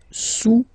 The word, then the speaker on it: sous: Le cube est sous le cylindre. Okay, le cube est sous le cylindre. Don't pronounce the final S, and then this OU combination. Vowels is pronounced ou, okay?